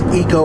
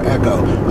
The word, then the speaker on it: Eco: the Ford employees and how they all pronounce eco or echo. I personally go for EcoBoost, as it sounds cooler. Yeah, I go for eco too, because it sounds like economy, ecology.